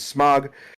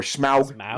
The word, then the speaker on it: Smaug: We watched The Hobbit, The Desolation of Smaug, or Smaug, whichever way you want to pronounce it.